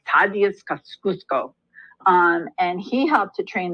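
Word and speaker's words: Kościuszko: I know I'm not saying this right fattiest cash use go it's kind of how an American pronounces it but it's like Fabian scoffs Cusco and he helped to train the soldiers and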